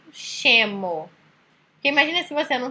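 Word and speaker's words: scemo: Aí depois vem a sílaba SCE, que tem som de che. Então, aqui embaixo, por exemplo, chemo.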